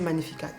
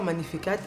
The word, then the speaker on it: Magnificat: Israéliens et des Sud-Africains alors moi je m'appelle Manificat et les anglophones ils ne prononcent pas magnificate ils disent magnificates donc chez eux toutes les lettres se prononcent en fait mais ça sonnait très mal à mes oreilles donc plus il disait magnificate plus je l'ai corrigé je leur disais toujours magnifique mais eux aussi ils